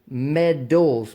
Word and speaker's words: medal: know I'm collect military stuff and I collect medals Metals this is a metal m e d